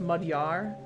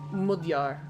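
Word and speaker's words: Magyar: Um, it's pronounced mudyar in ethnic Hungarian. Um, mudyar.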